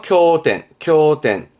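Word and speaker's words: 経典: 이 발음은 쿄로 갑니다. 그래서 따로 뺐네요. 쿄텐.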